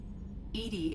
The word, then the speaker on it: EDI: are you named Edie Edie is the phonetic pronunciation of EDI that is an acronym for enhanced defense intelligence your location where are